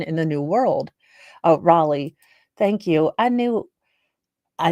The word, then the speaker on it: Raleigh: British baby born in the new world oh Raleigh thank you I knew I knew I mispronounced it you know when you have that